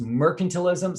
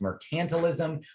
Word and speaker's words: mercantilism: Another word you must know from Unit 3 is mercantilism, sometimes pronounced mercantilism.